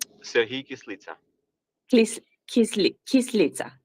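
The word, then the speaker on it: Kyslytsya: UN, and I don't know exactly how to pronounce his name. Sergey Kislitsa. Sergey Kislitsa. Kislitsa.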